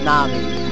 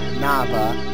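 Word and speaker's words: Navi: Thou come hither yes this pronounced na'vi not n not Nava it not na'vi it's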